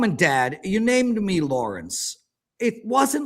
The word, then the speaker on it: Lawrence: Wait, Lawrence has 3 syllables? Kid Lawrence. Who's pronouncing Lawrence with 3 syllables? Lawrence. 2 syllables.